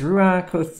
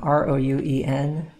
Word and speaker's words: Rouen: Go ahead and grab one of his Rouen Cathedral paintings, you know? You need to think about 30 of those, I don't know. R-O-U-E-N, Rouen, I believe is how you say it, Rouen.